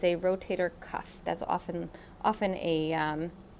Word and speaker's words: rotator cuff: as i mentioned before it's a rotator cuff it's not a rotary cup it's not a rotator cup cup or whatever people say it's a rotator cuff that's often often a